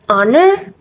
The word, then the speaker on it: honor: is an hour an honor and an honest in some of the sentence above the h letter is silent all right guys after